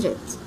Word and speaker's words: read: عرفت منه مضارع تام لأن has والتصريف الثالث الفعل has read، كأني بقول بالظبط نطقها زي نطق اللون الأحمر بالظبط has read.